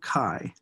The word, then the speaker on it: chi: That's pronounced chi, as it's almost like K-A-I, squared, or square. It's written with a Greek lowercase letter called chi.